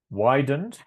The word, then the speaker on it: widened: Widened. Cluster of consonants at the end of this word make it very difficult for students whose first language doesn't contain these sounds.